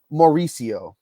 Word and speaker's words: Mauricio: gives you the page which gives you the pronunciation of their names so it's Ronnie Mauricio Ronnie Mauricio he's a shortstop Prospect for the